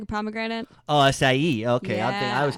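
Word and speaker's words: açaí: It's an acai spirit. Oh, it's so awesome. What does acai- that mean? What? Acai spirit. Acai? I mean, acai is that fruit, kind of like a pomegranate. Oh, acai.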